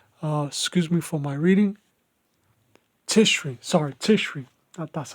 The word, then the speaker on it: Tishri: This this ha- this happy celebration began on the 15th day of Tifa. I think that's how you say it. Excuse me for my reading. Tishri.